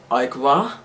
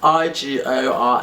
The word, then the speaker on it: Igora: This is I think you pronounce the kind of like brand Igra or Igra, like it's Igora, and it's by Suave, and